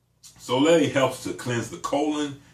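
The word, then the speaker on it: solé: Because Soleil, S-O-L-E with that little accent on the end, Soleil helps to cleanse the colon.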